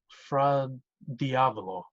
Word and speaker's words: fra diavolo: I'm pretty sure it's pronounced fra fra diavolo.